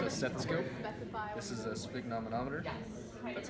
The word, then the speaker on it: sphygmomanometer: This is a sphygmomanometer.